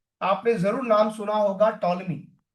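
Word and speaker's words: Ptolemy: आपने जरूर नाम सुना होगा टॉलमी। टॉलमी टी साइलेंट है।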